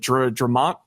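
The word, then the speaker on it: Dre'Mont: Jones and then the other, what was it, Dramont Jones? Is that how you pronounce it?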